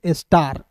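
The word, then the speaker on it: star: ए के बाद आर है तो ए का उच्चारण आ के रूप में आर का उच्चारण र के रूप में स्टार हो गया ना?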